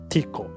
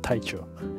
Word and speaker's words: Tiko: And the avatar name in Japanese pronunciation is Tiko, not Taicho. Ah, Tiko.